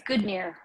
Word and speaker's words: Godenir: It's Godenir. So Godenir. Close. Godenir. Okay. Godenir. But it's spelled Godenir, so.